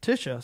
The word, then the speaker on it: Tisha: So I'm hearing from Tisha Pips that it's Tisha. So glad to know how to pronounce that.